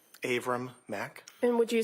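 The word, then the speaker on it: Avram: Aram Mac. And would you spell your name for the record, please? Abram is spelled A V like Victor, R like Robert, A like Apple, M like Mary.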